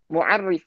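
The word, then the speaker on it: معرف: Kalau ini mu'arif ya pakai ain, yang kedua pakai mutarrif pakai to.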